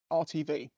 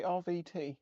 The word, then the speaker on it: RTV: I could RTV it RTV room temperature vulcanization I said it right way right around I always say rvt and it's not right uh I've been watching